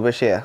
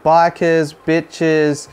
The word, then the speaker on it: bichir: we're talking about beshears you'll hear people refer to them as bikers boshes but if you trace it back it goes all the way back to the 1800s and is derived from arabic language and there's a clear-cut pronunciation that is bashir so that's the one